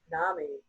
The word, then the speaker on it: Nami: And then when we talked about it, like Nami, she rhymes with mommy.